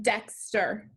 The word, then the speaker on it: Dexter: this word was dexter which syllable is accented in dexter the first one so put your accent